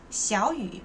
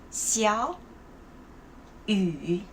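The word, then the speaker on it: 小雨: 小雨, when I say 小雨, I didn't say 小, I say 小. So you have to change the first tone. Why? When there's a rule, it's like it's decided. Okay, when the character, in one word, when the first character and the second character, they have the same third tone, you have to change the first character to the second tone.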